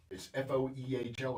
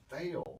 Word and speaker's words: Foehl: I have Foehl. I've been mispronouncing his name for the past 2 weeks. It's Foehl. It's Foehl. It's a German name.